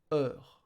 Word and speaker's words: heure: Heure, heure, H, sorry, and U are silent.